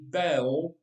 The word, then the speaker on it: Baal: right bell granddad nodded it rhymes with pale although some folks insisted he's actually bell which rhymes with well well ball it's confusing